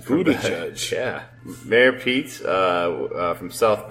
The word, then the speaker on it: Buttigieg: Mayor Pete Buttigieg out of Indiana. Nice pronunciation, Buttigieg.